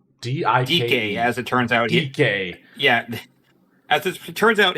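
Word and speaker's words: Dike: DK. Yeah. As it turns out, his name is pronounced DK.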